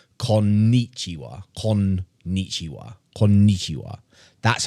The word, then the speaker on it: konnichiwa: Konnichiwa is actually 5 syllables. This is the correct way to say it.